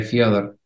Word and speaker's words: Fedor: yo creo que sí la coach de ruso decía que era así que fidor Okay Víctor quiero empezar